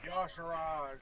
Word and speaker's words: Yogg-Saron: I am probably going to screw up how to say this name, but it's Yashara or something. Yashara. Yogg-Saron.